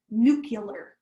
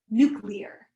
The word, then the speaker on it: nuclear: the iraq war and he had said new killer versus the word which is correctly pronounced nuclear and the press had